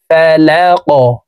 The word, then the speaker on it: فلق: দেখুন, বিরাব্বিল, বাজের বি, র বা জবর রব, বা লাম জের বিল, বিরাব্বিল, বিরাব্বিল ফালাক। কফ হরফ কলকলার হরফ, উপরের দিকে ধাবিত করে ধাক্কা দিয়ে উচ্চারণ করতে হবে।